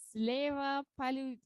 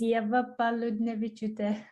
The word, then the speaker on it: Eva Paludnevich: next uh participant is leva palu oh leva i love your name it's so complicated can you pronounce it right hi hello everyone my name is eva paludnevich exactly with wake up pelvic